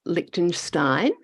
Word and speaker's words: Liechtenstein: Jess, tell me, as we can tell from your accent, it doesn't sound like you're originally from Liechtenstein. Am I pronouncing that right?